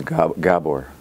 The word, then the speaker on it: Gabor: for the sake of clarity the name is gabor nobody says it it's okay it's just every